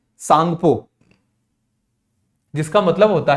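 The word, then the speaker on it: Tsangpo: को कहा जाता है सांगपो यहां पर टीम साइलेंट है तो ब्रम्हपुत्र को तिब्बत के अंदर क्या कहते हैं सांगपो जिसका मतलब होता है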